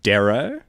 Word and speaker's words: dero: So, this is actually pronounced Darrow.